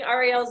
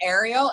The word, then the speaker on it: Ariel: So it's not Ariel, it's Ariel? Yes, and I tried to correct Lori today, and she's like, no, I think you're wrong.